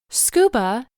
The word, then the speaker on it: scuba: We do not say each individual letter. We pronounce the acronym as a whole, scuba.